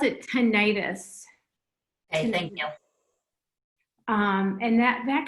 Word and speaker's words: tinnitus: And then just in terms of a couple of other things, that you pronounce it tinnitus.